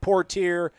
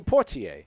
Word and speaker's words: Poitier: for clarification the media guide has it poor tear but it's just it's sidney poitier i mean it's yeah it's the same exact spelling why wouldn't you want to curb or crib from that pronunciation and then i got